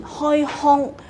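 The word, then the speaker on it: 开腔: 所缺失，开腔这个字，开枪腔跟枪的发音是相差很远的，开腔不是开腔，开腔在普通话里面呢应该是念开枪，开枪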